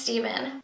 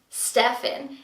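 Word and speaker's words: Stephen: new to my channel, my husband's name is Steven, but he doesn't spell it with the V, he spells it with the PH. So most people call him Stefan if they're reading it off something or whatever. Like, that's usually what people think his name is Stefan.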